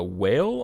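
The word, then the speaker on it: Wael: was 2-0 against uh whale i believe is how you say their name w-a-e-l uh they it was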